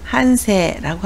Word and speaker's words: 反省: 반성을 한세라고 하고요.